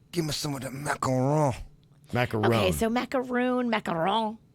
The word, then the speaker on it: macaron: She says, it has a long O. Macaron. Macaron. Macaron. Macaron. Macaron. Macaron. Give me some of the macaron.